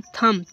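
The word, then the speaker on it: thumb: इस प्रकार यह लिखा हुआ है टी एच यू एम यानी कि थंब।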